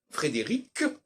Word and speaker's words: Frédéric: était on s'est entendu sur l'idée qu'il fallait prononcer Frédéric et Frédéric que la dernière consonne doit pas